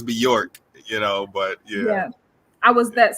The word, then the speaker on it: Beyorch: And for those who didn't get that, like New York. Right. Some people pronounce it Beyorch, but it's Beyorch, but yeah.